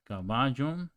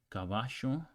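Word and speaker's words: caballo: other not EUR white this sound the S sound is more typical of places like Argentina or urugai so okay so kabaj be ja so caju means horse be means beautiful jav means ski and how would you pronounce it in Argentina it would be kabash B shave all right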